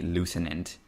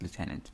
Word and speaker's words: lieutenant: Such a weird way to pronounce that word. It's clearly supposed to be lieutenant, but it's pronounced lieutenant.